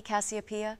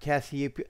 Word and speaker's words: Cassiopeia: constellation my darling author that would be me copia when do you plan on weaving our next tantalizing encounter it's not copia no it's copia you you had last time